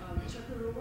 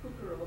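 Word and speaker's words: Çukurova: Kacira has a bachelor's degree in agricultural machinery from Chukarova University. I was going to say Kukarova, but it's actually Chukarova University, Turkey.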